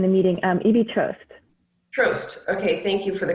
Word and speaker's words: Troast: okay from uh planned parenthood and also trust is pronounced i just saw them in the meeting um evie trust trost okay thank you for the correction they're from